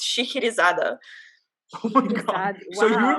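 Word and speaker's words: Scheherazade: is it it's okay so in russian i only know this because there's like a really famous it's either a ballet or an opera i don't know but like i don't know whatever but it's it's shikirizada oh my god so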